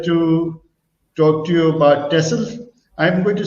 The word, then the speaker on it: Texel: he is here to talk to you about tesla i'm going to say tesl because that's the right pronunciation but it's also tech sim t-e-x-e-l and